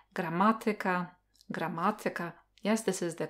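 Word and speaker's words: gramatyka: Or when it comes to the word stress, there is a rule that some words have the word stressed on the third syllable from the end or on the fourth syllable, like grammatica, grammatica.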